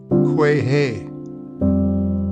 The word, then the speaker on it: quagga: The quagga is pronounced in South Africa quahe, and is of Hottentot origin, being an imitation of the animal's neighing call.